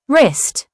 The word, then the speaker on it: wrist: The WR phonics sound typically makes the R sound with the W being silent. It often appears at the beginning of words. Examples: right, wrist, wrestle, wrong, rap.